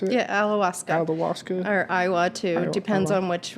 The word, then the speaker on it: ayahuasca: So let's talk about your ayahuasca, or how you pronounce it. Yeah, ayahuasca.